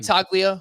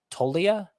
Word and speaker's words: Toglia: So Michael, and let's get this pronunciation right. Michael Toglia? It might be Toglia. I feel like I've heard that other places. It looks like Toglia. There's a G in there, but I think it's silent.